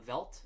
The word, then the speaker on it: Veldt: And he's working on a song of his called The Veld.